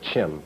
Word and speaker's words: Chem: province of Kemet was uh referred to as Chim that's spelled c-h-e-m okay why don't we take a